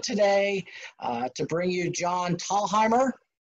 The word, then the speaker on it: Thalheimer: It's actually John Thalheimer. The first H is silent. John Thalheimer.